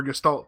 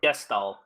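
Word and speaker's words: Gestahl: I mean, you could say that about Emperor Gestalt, too. Gestalt or Gestalt is how you pronounce. It doesn't have an ending T.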